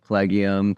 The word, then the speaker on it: Collegium: always just like cium collegium col it's always like something that looks really hard to pronounce but it's pretty much as it's read uh so it's Clum